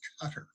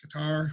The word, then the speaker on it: Qatar: of it we have qatar qatar you may hear it pronounced cutter you hear it both ways guitar or cutter okay so these are